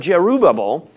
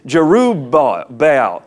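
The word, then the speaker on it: Jerubbaal: Abimelech the son of Giroux bobble went to Shechem okay a couple of things there and I said Giroux bobble wrong it's Giroux bah bale Giroux Bay hell I've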